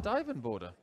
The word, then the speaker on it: Duijvenbode: listen to Dirk Van Dien border 100 little trick is to think of a diving board isn't it yeah speaking